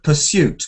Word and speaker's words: pursuit: You don't you don't need to do the uh you don't need to do the uh y kind of the y sound just pursuit is okayuit.